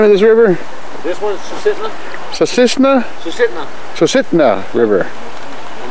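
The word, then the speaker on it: Susitna: How do you pronounce the name of this river? This one's Sisitna.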